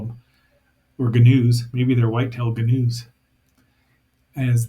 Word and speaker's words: gnu: to call them or gnus maybe they're whitetail gnuz as they and I do know it's pronounced new but blame the muppets on that one.